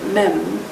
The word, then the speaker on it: Mem: The two Hebrew letters SH and M, pronounced Shin and Mem, which together form the Hebrew word Shem, represent